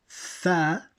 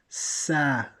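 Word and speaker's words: ث: Now, Tha is pronounced with the tongue outside the teeth. Tha. And it should not be confused with Sa.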